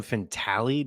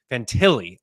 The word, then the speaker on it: Fantilli: I was like, did I pronounce it Adam Fintali? Did I pronounce that wrong? Like, what am I doing over here? It was just in my head. Maybe I didn't. Fantilli, Adam Fantilli, fantastic player.